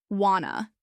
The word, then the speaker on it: want to: Want to becomes wanna. Let me becomes lemme. Did you becomes didja. These forms are not incorrect. They're simply how real people speak when they're not in a classroom or reading a script.